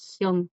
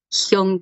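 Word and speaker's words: 형: De hombre a hombre es Hyun. Hyun, Sí, don, Hyun con NG al final.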